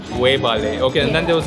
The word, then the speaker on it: Webale: You can say wevale. Wewale. Wevale. Webale. Yeah. Webale.